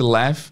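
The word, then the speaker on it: laughed: É, porém a escrita de left, para quem não tá vendo em vídeo, é l a u g. Left. A pronúncia é left, mas a escrita é diferente.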